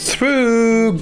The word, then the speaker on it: through: plus pour nous le prononcer ça se prononce through through the comme je sais que pour certains